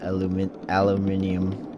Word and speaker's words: aluminium: find it weird that people would say aluminium. Because the way it's spelled just seems like it would be aluminum.